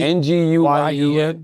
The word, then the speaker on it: Nguyen: How do you pronounce it, Chris? Nguyen is his name. N G U Y E N Nguyen is closest, yeah.